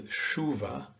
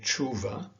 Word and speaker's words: chuva: in chop or chat in portuguese it is a soft shirt like in shop or shock and so this is read as shuva and ashar okay so that's something to remember because it's not natural naturally you would want to say chuva or achar but it is a soft she that you need to use here the next letter has